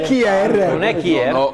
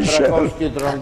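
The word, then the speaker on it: Kjær: Non è Kier. Non è Kier, che tutti chiamano Kier, si chiamerebbe Scher in Danimarca, però va bene. Scher. Come la cantante. Scher. Purtroppo è così. Nella Svizzera gioca Scher.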